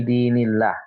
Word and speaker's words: دين الله: Kemudian di ayat berikutnya di bacaan fi dinillah ya. Tadi Tasna membaca fi dinillah. Nah, ini tarkik ya. Jadi kita bacanya tipis seperti ini.